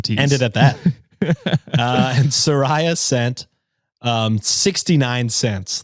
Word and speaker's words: Soraya: Second message, it's pronounced Soraya. Rolling eyes emoji, which I imagine means that I read the first one. I mispronounced her name.